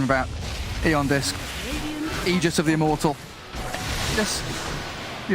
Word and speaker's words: Aegis: the pronunciation about eondisk aegis of the immortal yes you don't really care because we have a patch where it was said that it's pronounced ages that's true ice frog